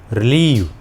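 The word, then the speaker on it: relieve: और next English word is रिलीव। रिलीव में भी आई और ई दोनों मिलकर बड़ी ई का उच्चारण दे रहे हैं, रिलीव।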